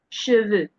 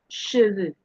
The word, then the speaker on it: cheveux: as in P, je, P, de, bleu, bleu, cheveux, cheveux, the. You can see that this is very sharp as I am pronouncing it.